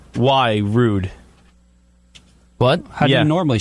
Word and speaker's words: Roode: you know it's it's hard vol B why rude but yeah normally spell it Bo BBY what did you say the